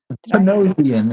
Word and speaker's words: Panosian: Panosian is how you say that. Panasian for DC that never saw print for whatever reason.